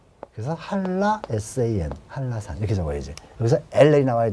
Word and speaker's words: 한라산: 발음은 한라산 이게 표준 발음이라고요. 왜? 니은과 리을이 만났잖아. 그럼 설치구만 일어나잖아요. 이게 설치구만 일어났으니까 한라산, 한라산 이렇게는 안 하니까 리을, 한라산. 그럼 어떻게 나와야 돼? 일단 HA 그 다음에 LL 왜? 리을, 리을이잖아요.